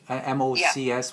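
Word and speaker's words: Mócs: that is that is much mocs with a long o and hungarian yes yeah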